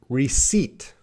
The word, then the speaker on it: receipt: That P is silent. So we should say receipt. Receipt. Receipt. There's no P sound.